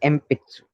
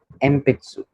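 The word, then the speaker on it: 鉛筆: और एम्पित्सु के, क्योंकि इधर बी साउंड वाला है, ये है, ये बी साउंड का है और ये पी साउंड का है, इसलिए ये मोरा अम, मोरा को हम प्रोनाउंस करेंगे।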